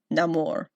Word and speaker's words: Namor: him Namor and not Namor, even though half of the cast still said Namor for some reason, is because he was called a child without love. El Niño Sin Amor. Namor. There you go. Say it right!